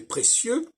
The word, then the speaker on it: précieux: On met un X pour montrer que véritablement, hop, on ne prononce pas la finale.